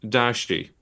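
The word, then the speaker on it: 大食: pronounced in the 7th Century but nowadays it's pronounced Dashi um and I will be using that term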